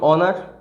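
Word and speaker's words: honour: যেন সোজা হয়, যেমন অনার, তারপর সেরকম একইভাবে এই যে ওয়ার্ডগুলো অনেস্ট, অনারেবল, এই ধরনের যে ওয়ার্ডগুলো, এদের উচ্চারণ, এরা এইচ দিয়ে শুরু হলেও এদের উচ্চারণটা মেনলি কী দিয়ে আসছে, ভাওয়েল উচ্চারণ, ঠিক আছে?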